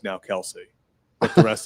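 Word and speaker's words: Kelce: Also, uh Travis and Jason Kelsey, their name's actually Kel. their dad apparently. Like, yeah, it's like his all of his family goes by Kelse, but he didn't care and everyone kept calling him Kelsey and it just stuck.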